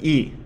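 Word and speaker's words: い: The second sound is E. This is pronounced like the E in eel, E.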